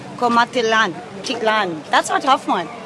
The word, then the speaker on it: Comaltitlán: Comaltitlán. Comaltitlán.